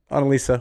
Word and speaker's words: Annelise: So, Annelise, welcome to the show.